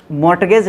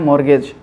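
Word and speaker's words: mortgage: ठीक है, मॉर्गेज, मॉर्टगेज लिखा हुआ है लेकिन इसका प्रोनाउंसिएशन होता है मॉर्गेज।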